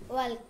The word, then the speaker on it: walk: Walk. ওয়াক, উচ্চারণটা হবে ওয়াক, এল এর উচ্চারণটা উজ্জ্ব থাকবে, ওয়াক।